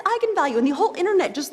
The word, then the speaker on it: eigenvalue: the directors that yes that is how you pronounce it so I went out there and said that's right egon value and then apparently the internet went nuts when it came out because apparently it's pronounced eigenvalue that's how you're supposed to say I'm the